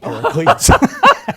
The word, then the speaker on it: paraclete: mind they said aha the paraclet which rhymes with parakeet and it is the